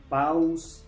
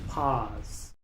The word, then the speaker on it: pause: Muchos pronuncian esta palabra paus o paus c, pero en este caso la u es muda, la e al final también es muda, así que solo se pronuncia la p, la a y la s. Pause.